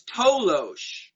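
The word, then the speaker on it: toloache: there was also a compound um known as tolosh it's spelled t-o-l-o-a-c-h-e and that was a plant native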